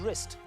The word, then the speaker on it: wrist: Now, what letter is silent in the word wrist? W.